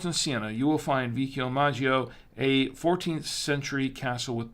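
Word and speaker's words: Vicchiomaggio: Tuscany between Florence and Siena you will find vishio Maggio a actually it's pronounced vicchio Maggio I think it's what it was it's vikio Maggio excuse me a 14th century Castle let me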